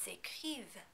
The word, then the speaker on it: écrivent: Also, as always, be careful not to pronounce the NT at the end of the form. There is no vowel after it, therefore it's silent. Ils écrivent.